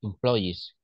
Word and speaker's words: employee: invest in training employ employees employees employees than and this one is sales remember sales sales sales sales sales also this word is very important this one employe employee so it's at the end the pronunciation number three